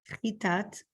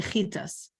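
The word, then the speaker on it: חת״ת: Chitat, or in Ashkenazic pronunciation, we say chitas.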